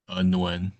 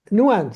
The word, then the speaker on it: Nguyen: Nguyen. Nguyen. So the G is not pronounced.